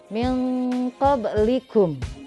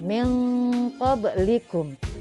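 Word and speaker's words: مِن قَبْلِكُم: Nah kalau ada nun mati ketemu dengan qaf, ini namanya ikhfa. Kemudian bacanya disamarkan, lalu kemudian didengungkan. Ya seperti jadinya min qablikum ya, min qablikum.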